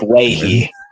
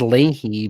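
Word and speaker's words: Leahy: comments for Ryan D I believe it's Ley Ley I thought it was Ley but oh well that's a weird that's a weird that's a weird ass name no no it's just Irish we still it's a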